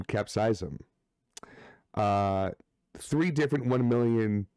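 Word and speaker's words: capsaicin: there are three different one million capsize capsize them apparently is how you pronounce it not capsicum capsize them uh three different one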